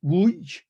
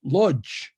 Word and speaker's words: Łódź: So the Poles pronounced it Łódź, and the Germans pronounced it Lodz.